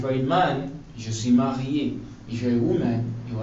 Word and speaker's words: marié: And marié is spelled M-A-R-I-E. Accent aigu. Okay, I know you don't know what accent aigu means yet, but marié is spelled M-A-R-I-E. With an accent on it. And when this accent is on the E, it makes it sound A.